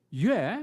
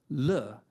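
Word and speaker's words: 樂: Although pronounced differently, the character yue, meaning music, is the same as the character le, meaning joy.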